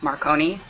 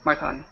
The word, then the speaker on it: Marcone: So, how is Macron pronounced correctly? In Italian, it would be more like Marcone, but Jim says Marconi or Marcone. Marcone.